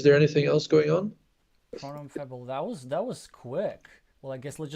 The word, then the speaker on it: pronom: No, pronom. I guess you don't even need to say the M.